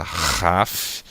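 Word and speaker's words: כ: De kaf passa para raf, né, um som de RR gutural feito lá na garganta, como em rapaz, ok?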